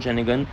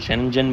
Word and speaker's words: Schengen: जहां पे इयू, शेनगन, नॉन ईयू, नॉन शैनगन। यह सब कंट्रीज आती हैं शनगन को। कुछ लोग शनगन बोलते हैं। कुछ शनजन बोलते हैं।